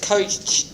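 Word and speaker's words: Koch: anthracis right robert well i think you pronounce it coach now because well the american way is to pronounce it coach you know that's the politically correct way yeah well they're bad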